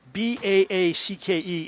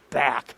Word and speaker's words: Baacke: I remember saying it's Baacke. It's not back.